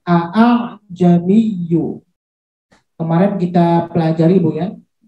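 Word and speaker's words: أَأَعْجَمِيٌّ: Nah, karena sekarang alifnya sama-sama hidup, maka dia diayun cara bacanya.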